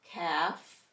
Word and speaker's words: calf: Half, calf, and behalf. MB, the B is silent, and we're going to hear M.